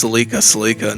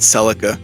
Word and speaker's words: Celica: I got called a motherfucker the other day on YouTube because I pronounced Salika, not Celica, so that was interesting.